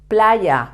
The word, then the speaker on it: playa: previous lesson La Playa I told you the pronunciation of the Y in a previous lesson remember that is very similar to when you say yesterday but much with more Force La Playa yeah la